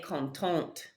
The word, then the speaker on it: contente: Again, that E tells you to pronounce that last consonant before it. Il est content. Elle est contente.